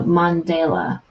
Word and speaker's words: mandala: for an English class our teacher pronounced it like the famous Nelson's last name so Mandela Nelson Mandela okay okay